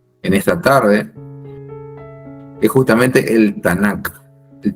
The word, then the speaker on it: Tanaj: el pueblo de Israel lo menciona con la letra j al final al final eh tanaj tanaj También se es una forma de pronunciar una forma alternativa con con j pero lo correcto de